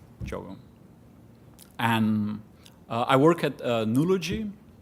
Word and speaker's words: Diogo: I know it's written with a D, but that's a weird Brazilian pronunciation. So you can actually say Diogo, all in one word, Diogo.